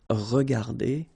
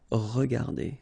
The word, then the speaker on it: regardées: Remember that we don't pronounce them, so you will get phonetically regarder and then here the same form regarder. Okay, so you don't pronounce anything after your e, but still you should